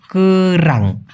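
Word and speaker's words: kerang: হ্যাঁ, এই যে আপনার যে ঝিনুক, মালয়েশিয়াতে কিন্তু ঝিনুকটা খায়, তো ওটা বলে হচ্ছে রাং, কেরাং, উচ্চারণটা হবে কেরাং।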